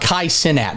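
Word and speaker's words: Kai Cenat: what I know about Kai sinat first off that's how his name's pronounced if I'm told any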